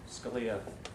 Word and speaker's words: Scalia: and incidentally I uh Scalia rhymes with Sharia and it reminds me